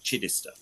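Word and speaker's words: Chichester: the the train to chitester you would hear a conductor say chister and that's your Sussex where pronouncing chitester it's by and large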